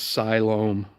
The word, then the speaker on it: Siloam: That's pronounced Siloam. You'll get corrected about it anywhere you go.